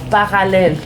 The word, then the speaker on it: Parallelle: But you have to say it like this. Parallelle. No, because in Mexican they say parallelle. Parallelle. It's like la.